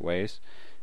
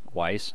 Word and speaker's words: Weis: by tracy hickman and margaret ways and um weiss sorry you know i've only